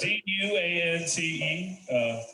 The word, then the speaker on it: Duante: So, You might hear Duante, but it's spelled all fucked up though. Yeah, it's Duante. I get everything from Duante to why am I hearing? I even got Dwayne before, like the T silent and shit.